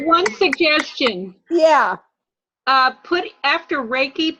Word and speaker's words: Reiki: Put after Reiki, put in parentheses pronounced R-A-Y-K-E.